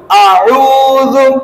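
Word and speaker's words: أعوذ: বলবো তারপর আপনারা বলবেন আউজু আউজু আউজু আউজু প্রথমটা হামজা তারপরটা আইন খেয়াল করবেন হামজা এবং আইনের উচ্চারণ অনেক পার্থক্য আইন গলার মাঝখান থেকে কেমন আ উজু আউজু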